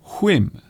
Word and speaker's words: whim: It looks like him, but it isn't. In fact, this particular word is pronounced whim.